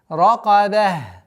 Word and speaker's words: رَقَبَة: Ра твердая, каф твердая, но ба у нас мягкая. Ракаба. Нет. Ракаба. При остановке мы аннулируем танвин касра, та марбуту аннулируется и переходит звук ха.